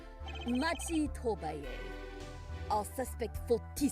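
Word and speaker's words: Machi Tobaye: Machi Tobay.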